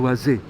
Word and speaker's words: Waze: bisa pakai W By the way ada orang bacanya Waze saya dulu bingung Loh kenapa sih waz itu apa waz Waze atau Waze Waze Oh ternyata yang dimaksud adalah waz waz